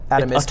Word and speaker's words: Atomsk: Atomisk is the way to pronounce it.